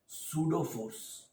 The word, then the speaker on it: pseudo force: तो आज का हमारा टॉपिक है सूडो फोर्स। पी बेटा इसमें साइलेंट है।